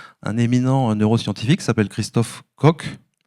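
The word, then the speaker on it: Koch: éminent neuroscientifique s'appelle Christophe coq ko je crois qu'on prononce co qui est le fondateur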